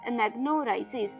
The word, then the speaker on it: anagnorisis: अनेग्रोनाइसिस, जी हाँ दोस्तों, अनेग्रोनाइसिस के स्पेलिंग बताए थे मैंने, ANAGNORISIS, अनेग्नोराइसिस।